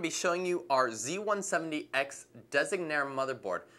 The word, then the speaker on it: Designare: showing you our z170x designare motherboard again that's not a mispronunciation or misspelling it's actually a word taken from an Italian route which represents designer so as you guys